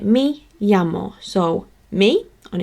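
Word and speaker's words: me llamo: I will teach you how I pronounce it which is a yet sound so I pronounce it me yamo so me on its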